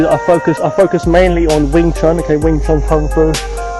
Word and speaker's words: Wing Chun: You can see that I focus mainly on Wing Chun, okay, Wing Chun Kung Fu. Wing Chun, different pronunciations, Wing Chun, then you got Yong Chun Chinese, Mandarin Chinese, Yong Chun.